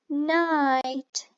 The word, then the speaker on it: night: GH light g h night it has GH and the GH here makes a silent voice so I cannot hear anything only right light night